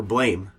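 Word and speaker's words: BLAME!: for for blame the manga okay I exist seem you're not blame it's spelt blame but it's browns blam all right Japanese people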